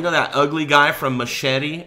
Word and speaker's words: Machete: And that guy, you know, that ugly guy from Machete or Mahehe, as they pronounce it.